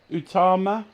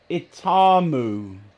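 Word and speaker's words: Itauma: Talk Sport Boxing about Joseph Utama. Is that right? Moses Itamu. Itamu. Right. I'll spell it.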